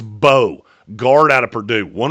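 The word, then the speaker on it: Mbow: I've been saying this kid's name wrong the entire process. It's Marcus Bo, guard out of Purdue.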